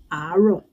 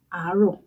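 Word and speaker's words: àárọ̀: It is written as aro. A-A-R-O. And there you go, aro. That is how you say aro. Repeat after me so you practice how to say it. Aro. And it has its own mark.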